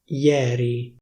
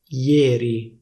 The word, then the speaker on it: ieri: For example, the standard pronunciation is /ieri/. In Milan, though, people say /iéri/, /iéri/ with a close /é/.